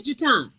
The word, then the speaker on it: Jaton: thank you but my my name is jaton but they didn't pronounce it right so it is jatun uh-huh oh okay i